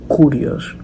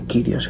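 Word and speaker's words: κύριος: se le ha enseñado algunos la pronuncian curios otros kirios se cree que la pronunciación correcta es kirios Entonces le dir quos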